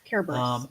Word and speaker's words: Cerberus: We've seen very cool interpretations of Medusa and Cerberus, the three-headed dog. Kerberos. I Kerberos. Okay. And Greek does not have a soft C.